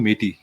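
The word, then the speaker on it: Métis: अ उनको कहते हैं मेटी ओ एम ई टी आई एस S silent तो उनके भी ऐसे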